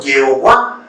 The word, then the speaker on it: Jehová: Los masoretas fueron a introducir las vocales de Adonai aquí, solo para darle pronunciación. Entonces tenemos que pusieron la A, la O y la A, quedando de esta manera. Pero para darle una mejor pronunciación, la E, que quedó como Jehová, que después pasó al español como Jehová.